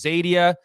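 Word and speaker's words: Xadia: live in the East known as zadia spelled with an X and the humans live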